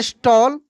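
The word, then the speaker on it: stall: अगर लिख लिखा रहता है एस टी A double L तो इसको हम लोग पढ़ते हैं स्टॉल।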